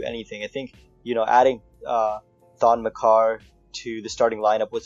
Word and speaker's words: Maker: Pronounce that again. McCarr. McCarr. I think that's how you pronounce his real name. Really? Yeah. Oh, it's not Thon Maker? Nope.